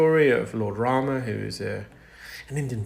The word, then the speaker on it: Ram: So it provided a route back safe route back for Lord Lord Rama say Lord Rama but in Gujarati Hindu we call it Ram.